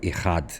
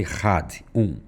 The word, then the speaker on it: Echad: Ouve, ó Israel, Adonai Eloheinu, Adonai Echad. Devarim 6:4. Os nossos sábios afirmam que quem prolonga a pronúncia da palavra Echad, terá seus dias e anos prolongados.